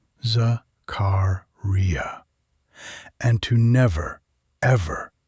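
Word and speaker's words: Zakariyya: More importantly, she warned Rebecca to pronounce his name correctly, Zakaria, and to never ever call him Joe.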